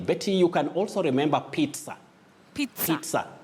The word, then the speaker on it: pizza: Betty, you can also remember pizza. Pizza. It's P-I-Z-Z-A, but you say pizza, not pizza or pizza.